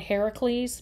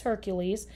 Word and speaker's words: Hercules: Sometimes you'll hear him called Heracles, but we often pronounce it as Hercules.